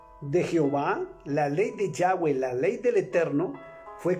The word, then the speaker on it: Yahweh: Pero su nombre correcto es YHWH, que es Yahweh, como se pronuncia en hebreo.